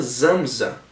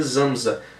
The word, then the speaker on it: Samsa: E aí o Nabokov, ele explica que o Samsa se pronuncia Zamza, né? Eu até não sei como conferir, mas confiei no Nabokov. Se pronuncia Zamza, emulando o som de um inseto.